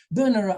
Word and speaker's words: Bernera: Bernera, I'm pretty sure I'm right, because I was told that's how it's pronounced.